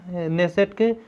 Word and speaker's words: Knesset: तो इजराइल को संसद को कहते हैं आपको नेसेट। स्पेलिंग याद रखिएगा, नेसेट तो इस तरह बोल देते हैं, लेकिन स्पेलिंग होती है KNESSET।